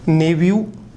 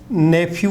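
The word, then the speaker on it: nephew: Option उसने यहां लिख दिया नेव्यू, नेफ्यू नहीं होता है, नेव्यू, नेव्यू होता है, नेव्यू।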